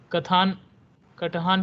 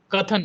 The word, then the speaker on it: कथन: कटहान । Present, sir. आपका नाम का प्रोनाउंसिएशन क्या है? कथन। आई एम सॉरी, मुझे लगा कि कुछ मैं गलत बोल रहा हूँ। कथन राइट।